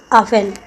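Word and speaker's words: often: ऑफन, इसमें T silent है।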